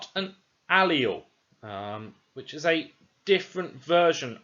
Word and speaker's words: allele: Therefore, the correct pronunciation is allele. I don't want to hear anyone saying it any different ways. The correct pronunciation is allele.